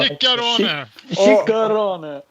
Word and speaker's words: Ciccarone: Pronounce it yourself. Ciccarone. Yeah. Ciccarone.